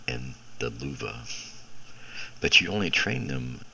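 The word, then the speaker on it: Löwe: the Luva, the low, the L-O-W-E, the Luva is the way it's pronounced, and you have the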